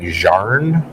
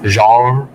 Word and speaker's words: genre: it he said like jarn what genre it's one of those things where you say the n and the r at the exact same time what's he trying to